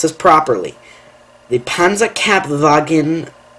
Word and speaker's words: Panzerkampfwagen: Number six, it's a mouthful, but I can pronounce this properly. The Panzerkampfwagen 4, otherwise known as the Panzer 4.